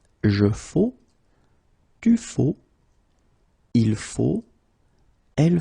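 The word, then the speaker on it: faux: So one more time, it goes like je faut. Okay, remember X, but then you don't pronounce it.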